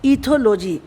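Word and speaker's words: ethology: तो बहुत ही आसान है, ई तो ई हो गया, टी एच ओ थो, इथोलॉजी।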